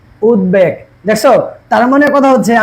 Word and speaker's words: উদ্বেগ: আচ্ছা 3 নম্বরে দেখে, এখন উপসর্গজয় গঠিত শব্দে খণ্ডত্ব দয়ের সাথে বফলার ব বাংলা উচ্চারণে লুপ্ত হয় না। তাহলে উদ্বেগ, দেখো কি বলছি এটা? উদ্বেগ, উদ্বেগ।